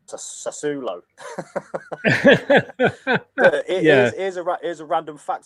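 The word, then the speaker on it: Sassuolo: don't you so uh i think it's pronounced sasulo yeah here's a random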